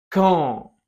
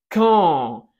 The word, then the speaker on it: quand: Cuidado, podrás notar que no suena la U de quand, no se dice quand, se dice quand, ¿ok?